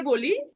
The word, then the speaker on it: B: আমরা যেমন ইংরেজিতে এ বলি, জার্মানরা এটাকে কি বলে? আ বলে। আমি আপনাদের বোঝার সুবিধার্থে এখানে আমি উচ্চারণ সহকারে লিখে দিয়েছি, ইংলিশ প্লাস বাংলা দুইটা দিয়ে দিছি, যাতে আপনাদের সুবিধা হয় বুঝতে।